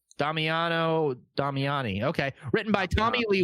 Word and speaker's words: Damiano Damiani: So, directed by Damiano Damiani. Yeah, holy fuck. Bobby, how do you say that? Yeah, no, you said it right. Damiano Damiani.